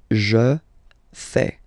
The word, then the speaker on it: fais: a faire je sais je fais remember final s not pronounced Yuja fais tu fais